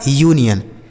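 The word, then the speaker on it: union: इसे क्या पढ़ा जाएगा? यूनियन इसे अनियन नहीं पढ़ा जाएगा।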